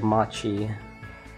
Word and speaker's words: mochi: So you pronounce it like mochi.